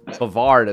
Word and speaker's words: Brevard: at this point so it's it's brevard so the emphasis on the a not the oh my bad right no